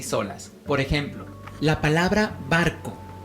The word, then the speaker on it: barco: Por ejemplo, la palabra barco. Barco lleva el acento en la sílaba bar, que es la penúltima sílaba.